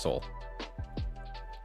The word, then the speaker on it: Seoul: is it there's no you don't pronounce the e right it's just seoul 250 from barcelona